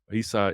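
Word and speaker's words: عيسى: Jesus is called Isa Isa is not really the Arabic way to say his name um it's really yesu but the the quranic way to say Jesus's name is ISA but he's called Isa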